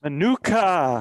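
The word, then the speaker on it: Minooka: Manuka. Manuka, Illinois in the house. See, Beto, that's how you pronounce stuff like that, dude.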